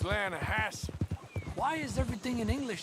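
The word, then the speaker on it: Lannahechee: near here yeah but it's pronounced lanahassee why is everything in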